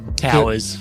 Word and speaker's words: Touyz: It is spelled. And I'm almost convinced it is, but my granddad said it was Towers and we just sort of stuck with it.